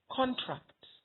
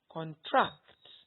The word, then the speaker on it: contract: So the first one, when you stress the first syllable, you have a noun. Contract. Contract. That's a noun. But when you move on to the next column and you stress the second syllable, what you have is a verb. Contract. Contract. The next one, insult, is a noun.